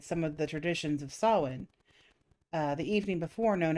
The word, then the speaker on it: Samhain: tradition originated with the ancient celts festival of sawin there you go i know i got it pronounced correctly this time when people would light